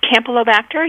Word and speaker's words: Campylobacter: know if a kitten had for example a pronunciation campy campylobacter infection or pasterella bacteria it's campylobacter you you got it right and pasteurella so